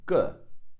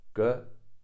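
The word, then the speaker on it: 个: Some textbooks or some websites also say that ge is a 4th tone, ge, which is also correct. But in the vernacular, in the spoken language, ge is usually toneless. Most people pronounce it toneless.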